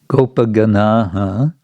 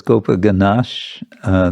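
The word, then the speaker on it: गोपगणश्: Gopaganaha, it says Gopaganash, the ash is the sandhi adjustment because of the cha coming in the next word.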